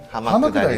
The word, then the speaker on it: 浜下り: はい、浜下りですね。